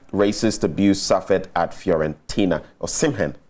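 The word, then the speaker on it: Osimhen: napoli defender and teammate or simhin uh condemned racist abuse suffered at fiorentina or simhan i should say i nearly i pronounced it like a ghanaian name are you done with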